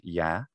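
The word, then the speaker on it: я: It's a more znaju, and also ya, meaning I, is actually more like ya.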